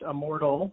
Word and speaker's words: Immordl: It is pronounced Immortal, as you phonetically say it.